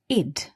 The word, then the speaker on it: ed: The ed here is pronounced id, visited.